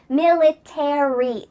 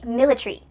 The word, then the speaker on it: military: Military. In British English, they often cut out the a. So, instead of military, it would be military.